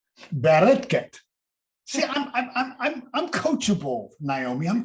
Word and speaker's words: Bareket: Give me the Israeli pronunciation. Bareket.